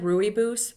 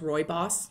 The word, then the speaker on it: rooibos: i really like right it looks like rooibos but but it's pronounced roy boss i was told at